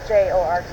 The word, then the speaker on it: Jorge: Spell it for me. Torres. And his first name? George, Jorge. Jorge.